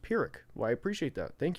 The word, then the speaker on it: Pyrrhic: Um It's pronounced Pyrrhic.